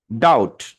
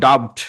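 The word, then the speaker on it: doubt: তাহলে কি হচ্ছে ডাউট ডাউট ডাউট এটা কিন্তু ডাবড না ডাবড এটা আপনি পড়েছিলেন ডাব বাট ডাব হবে না এটা হবে কি ডাউট কারণ এখানে বিটা উচ্চারিত হয় না এবাউট দা ডেট এখানে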